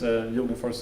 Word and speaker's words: Jogenfors: I still haven't figured out how to pronounce it in English, but I guess Jogenfors is the Swedish way.